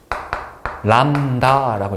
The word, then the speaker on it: 람다: 요거를 람다라고 읽을 거야. 람다.